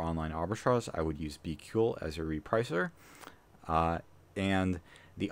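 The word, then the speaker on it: BQool: is bql which uh it's a little bit difficult to figure out what the how to spell that but it's b q o o l if you google that it should come up uh but it's be ql and that's a pretty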